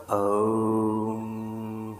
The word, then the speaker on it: ओम: को खत्म करें और इसका शुद्ध उच्चारण ओम नहीं है यह अकार मकार उकार अर्थात अ उ और म अर्थात यह ओम नहीं यह ओम होता है यह मंत्र है ओम